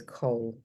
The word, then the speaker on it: Coll: So So you're saying coal, as in COAL. I think no, it's a Yeah. regional accent thing. Yeah. yeah, absolutely. I don't really have an accent though, but yes, it's Cole.